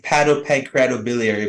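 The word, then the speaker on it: hepatopancreatobiliary: you're board certified Hilary Heil how do you pronounce that doc hi the the word is hi pancreatobiliary but we can just say h p as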